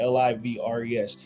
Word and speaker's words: livres: That's how you pronounce it. Livres.